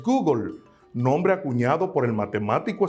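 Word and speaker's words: googol: Existe un número que se escribe Gogol y su pronunciación en el inglés es Google, nombre acuñado por el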